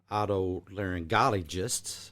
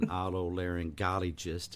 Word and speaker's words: otolaryngologist: medical work, be a otolaryngologist. I always have trouble pronouncing that. I remind myself there's a golly G in otolaryngologist.